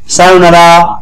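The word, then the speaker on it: さようなら: এর পরে উ আছে এই উটা মানে কি লং ভাল এটা মনে রাখবেন সবাই উটা হচ্ছে লং ভাল লং ভালটা কি টানা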